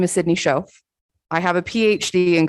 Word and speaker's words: Schaff: Shof. Shof. Yeah. Of the 7 letters, 3 of them are silent.